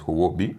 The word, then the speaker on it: Huobi: Actually, in Chinese you pronounce it as Huobi.